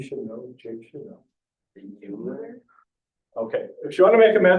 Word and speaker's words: Euler: Euler?